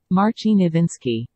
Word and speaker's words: Marcin Iwiński: Marcin Nowinski.